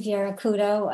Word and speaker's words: Vieira Couto: I'm Vieira Couto. I don't pronounce my name the way the Portuguese people pronounce it. I say it the way we say it in New Bedford.